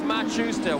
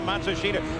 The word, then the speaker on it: Matsushita: Oh, he tells Machusta what he thinks or Matsushita, however you pronounce his name now. Yeah, they they change it about every 6 months. They say the pronunciation is now Matsushita.